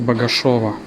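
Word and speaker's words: Богашёво: Moreover, it is written through "e" - Bogashevo, but pronounced as Bogashevo.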